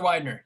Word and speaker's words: Widener: Is it Widener? Taylor Widener, yeah.